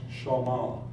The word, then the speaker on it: Sh'ma: Jews have a difficult time with the trinity shama by the way is pronounced shama as I had explained earlier so what is